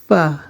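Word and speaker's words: فاء: আমাদের উচ্চারণ হবে ফা সামনের উপরের দুই দাঁত নিচের ঠোঁটের এর পেটের সাথে লাগবে উচ্চারণটি হবে ফা ফা তারপরের হরফটি হচ্ছে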